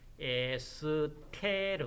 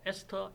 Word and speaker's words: ester: 나옵니다 자 ester 도기로 바로 뭐 그대로 하면 에스테르 입니다 그런데 영어식으로 발음을 한다면 sk 르가 아니고 s 토르도 아니고 아니 뭐 금이야 st 에스터 이렇게 괴물 풀입니다 에스더 바람이 시 oo 뭐